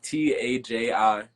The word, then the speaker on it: Taji: Taji, Taj. The I is silent.